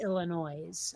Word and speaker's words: Illinois: the end of it there is no e on the end of Illinois to make it noise well but there but there is an S and there is an S but it is a silent s is it from yes but it's still um I mean if if if you expect words to be a little more phonetic it makes sense to say Illinois I mean you're wrong